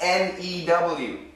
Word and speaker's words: new: How do Americans pronounce N-E-W? New, new, new, new, new. The most common sound in America is simply new. New. A new car. So it's like N-O-O.